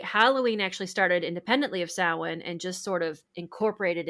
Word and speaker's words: Samhain: And most people Samhain they would think cuz that's how it's spelled, Samhain.